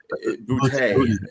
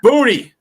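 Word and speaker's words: Boutte: I like how And I like how you pronounced uh his name there. Bouty. Booty. It's Booty.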